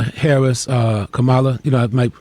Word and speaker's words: Kamala: at least hopeful about what excites me is camilla harris uh kamala you know i might not pronounce the name all the way right all